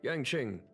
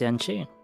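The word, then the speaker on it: Yanqing: Speaking of which, Yangqing. Oh, it's actually pronounced Yaning. Okay.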